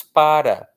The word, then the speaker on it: para: Eu não falo pra de fazer esse barulho, ou então esse carro não pra de buzinar. Não existe isso. Nós só pronunciamos para.